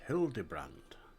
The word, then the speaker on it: Hildebrand: It's pronounced Hildybrand.